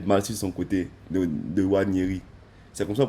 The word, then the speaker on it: Nwaneri: capacités à faire mal sur son côté de Wanyeri. C'est comme ça qu'on prononce son nom, Nyawani. Ouais, Ok. Nwaneri.